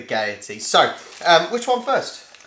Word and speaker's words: Gaiety: gonna say they're goatees I think it's gaiety you gotta over pronounce with the IE the gaiety so um which one